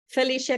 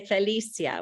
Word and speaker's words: Felicia: I want to say Felicia, which is a Spanish pronunciation, but it's Felicia, I think, in English. But right?